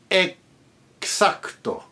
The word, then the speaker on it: exacto: The X letter pronounced like a KS. Exacto, not exacto, but exacto. Exhuante, not exuberante, but chaos, exuberante, exacto.